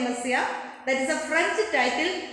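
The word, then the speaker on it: Monsieur: Pastor, sorry, Messiah. That's impossible. Messiah here means that a word pronounced like a Messiah.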